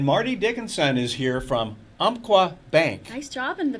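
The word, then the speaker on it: Umpqua: And Marty Dickinson is here from Umqua Bank. Nice job in the pronouncing of that.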